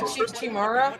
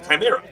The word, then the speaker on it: chimera: It's a It's a chimera. Chimera. Chimera. Oh, sorry. I'm I'm just pronouncing it wrong. I M E R A or something. You're not wrong. I mean like you know pronouncing it that way but but it's the the animal is probably closer to a chimera which has two different